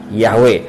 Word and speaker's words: Yahweh: Jadi orang Yahudi tahu nggak cara nyebut nama Yod He Waw He? Tentu mereka tahu, dan dibacanya adalah Yahweh. Oke, kembali lagi soal keselamatan.